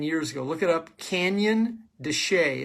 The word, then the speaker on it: Canyon de Chelly: Look it up, Canyon de Chelly. It's spelled Shelley. It looks like Shelley, but it's pronounced Canyon de Chelly.